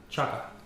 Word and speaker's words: Chaka: Can you pronounce her last name? Chaka.